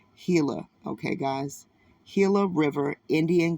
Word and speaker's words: Gila: on the nearby Gilla some people will say Gila it's really pronounced hila okay guys hila River